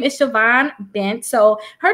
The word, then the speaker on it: Siobhan: So as you said, my name is ShaVon Bent. It's actually an Irish Gaelic name, which I'm not Irish nor Gaelic.